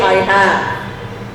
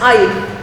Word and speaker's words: I've: Now this pronunciation, don't say I have. That's not I have, it's I've. I've an envelope.